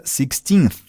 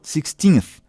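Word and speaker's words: sixteenth: Então, perceba que o TH ao final de 16 nos dá a pronúncia 16th, ok? Então, a língua no dente superior, 16th, que quer dizer 16º.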